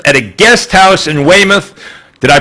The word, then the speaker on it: Weymouth: arrested the youth at a guest house in weymouth did i pronounce that properly you did indeed very good